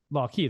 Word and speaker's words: LawQi: How do you pronounce it? LawQi though, right? Key, yeah.